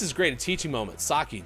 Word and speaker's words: sake: Sake, Japanese, pronounced sake or seiki if you're an uncultured American.